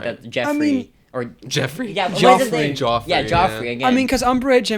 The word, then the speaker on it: Joffrey: So how do you spell that name? J O F F R E Y. So, it's literally Jeffrey without Joffrey.